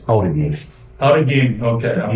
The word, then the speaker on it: Outagamie: Originally, it was Outagamie. Okay. But currently, today, it's Outagamie.